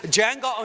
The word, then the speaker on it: Django: the junk John don't the D is silent dammit Django Unchained his latest delivers